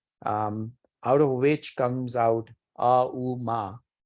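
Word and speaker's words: ॐ: Out of which comes out A-U-Ma. A-U-Ma is the break of the syllables out of Om, and A-U-Ma, if you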